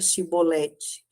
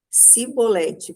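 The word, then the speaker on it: שיבולת: Disseram-lhe então: Diz agora Shibolete. E ele disse: Sibolete, pois eles não conseguia formular uma pronúncia correta.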